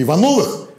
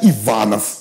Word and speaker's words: Иванов: У каждого в школе было несколько Ивановых, и один какой-нибудь вставал в позу. А я Иванов, а не Иванов. Вот так. Понятно? Я такой, о, блин, про тебя еще ударение помнить.